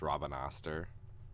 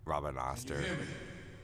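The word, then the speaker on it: Rabanastre: this game is how the main city is pronounced Robin Astor in America you would like never pronounce it Robin Auster the way it's spelled American English as I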